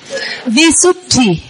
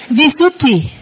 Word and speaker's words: Visuddhi: Dh. Dh. Visuddhi. Không phải là thi nha. Thi là tơ hơn là thi là giống tiếng Việt là thi. Hay con này. D. T. Visuddhi.